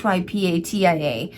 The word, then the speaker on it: Hypatia: If I spelled it, I may have pronounced that wrong. It's Hypatia.